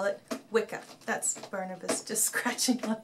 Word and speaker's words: Wicca: the old word which it's supposed to be pronounced which up but he decided to call it Wicca that's Barnabas just scratching on this silly man